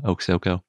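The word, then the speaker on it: Oksoko: and mysterious in some ways this one's named oak soco and thank you to the authors for giving me a pronunciation guide i really appreciate that it's actually a pretty easy dinosaur name too oksoco the name comes from quote the three-headed eagle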